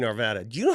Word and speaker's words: Arvada: him credit at least he knows how to pronounce Arvada not like some people in this town who